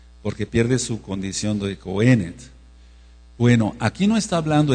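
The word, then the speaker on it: cohenet: pierde su condición de cenet c o h e acento en esa e en la pronunciación de la fonética hebrea n e t c o h e n e t acento en la primera e pierde su condición de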